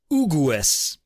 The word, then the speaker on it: Hughes: about his name because if an Italian saw this name he'd probably pronounce it ugues so I was wondering